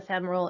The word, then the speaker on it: femoral: So the non-tunnel central lines and the tunneled central lines, the internal jugular vein, subclavian, and the femoral. And yes, it is pronounced femoral, not femoral.